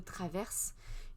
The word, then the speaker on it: Travers: On va aller voir cet article du Monde qui nous parle de Hugo Décrypte, Hugo Traverse. Il faut prononcer le R, nous dit-il.